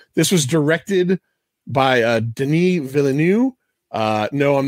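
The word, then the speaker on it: Denis Villeneuve: 2021 version so this was directed by uh denis villeneux uh no i'm not being snooty that's how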